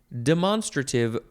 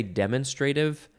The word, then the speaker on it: demonstrative: word the and also demonstrative pronouns I guess you could say demonstrative but I feel like it's not usually pronounced that way demonstrative that makes more sense to me demonstrative pronouns or